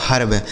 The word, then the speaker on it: herb: जैसे एच से हो गया ह, इस ई का उच्चारण ए हो जाएगा, आर से र और बी से हो जाएगा ब, यह लिखा गया आपका हर्ब।